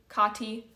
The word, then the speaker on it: Kaatii: Yeah, and hot tea with Kaatii is not just a cute little name, it's also a really smart way to remember how to pronounce my name, because hot tea, Kaatii, very similar.